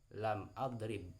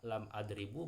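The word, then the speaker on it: لم أضرب: Lam adrib, bukan lam adribu, bukan lam adriba, akan tetapi lan adrib ya, seperti itu.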